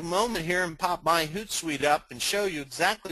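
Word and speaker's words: Hootsuite: get good coverage the next is consider using hoot site that's pronounced hoot site like like an owl hoot hoot hoodu is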